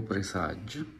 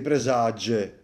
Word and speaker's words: Presage: anche te presage presage ma perché dovete Calcare la g in questa maniera qua Va bene gli acc va bene tutto quello che volete No ma presage presage senti Come si pronuncia leggero proprio volare presage cinturino Quindi vorrei